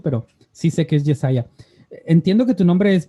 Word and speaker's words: Jesiah: Se pronuncia Jesiah, pero todos mis amigos me dicen Jesse.